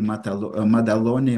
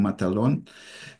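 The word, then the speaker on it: Maddaloni: importantes depuis leche euh Matalon c'est une ville à côté de Naple madalone mais dialecte local ça se prononce comme matalone et puis trag euh mitrag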